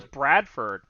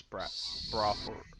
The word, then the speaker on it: Brawford: I was pronouncing it Brawford or Bradford without the D. Yeah. Just Yeah, I Bradford. wrote Bradford here. It's Brawford.